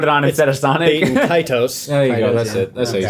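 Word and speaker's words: Baten Kaitos: Bait and Kaitos.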